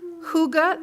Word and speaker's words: hygge: Hygge, that is how you say it, at FUS.